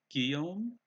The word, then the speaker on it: Guillaume: oh my dinosaur says I think it's pronounced Guillaume okay it's a French version of William will welcome you to